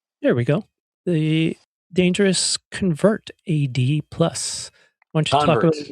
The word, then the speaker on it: CONVERT: So it's pronounced convert. The whole series is the convert series. Convert 80 plus convert 2 convert 8. The reason is because you will become a convert once you hear our conversion.